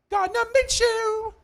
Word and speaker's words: Gardner Minshew: Gardner Minshew.